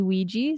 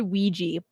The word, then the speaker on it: Ouija: funny thank you now when you look at the word Ouija the letters look nothing like the wig it's pronounced and I have to